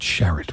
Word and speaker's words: Sharratt: It's spelled Sharratt, but they call it Sharratt Winery.